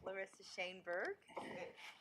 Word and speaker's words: Lissa Shanberg: please pronounce it correctly actually you did a perfect job congratulations broken clock is right twice a day to you thank you so yes I am Lissa shanberg correctly pronounced appreciate that I'm the